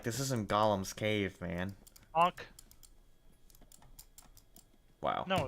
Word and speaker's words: Gollum: ball but in lord of the rings it's pronounced gollum and his real name is actually smeagle miracle